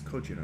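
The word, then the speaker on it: ゴジラ: It's It's Cojira, I think. I don't know. You don't know? Have you seen the Godzilla movies? No. Godzilla is an American pronunciation of the Japanese word for Godzilla.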